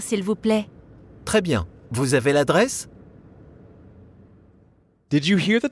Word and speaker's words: vous avez: Because vous ends in S, we have a liaison between vous and avez.